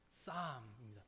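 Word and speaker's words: Psalm: 하면 뭔지 혹시 아시나요 쌈입니다 피는 피는 묵음이에요 소리가 안나요 쌈입니다 풋살 모습 쌈 비슷하죠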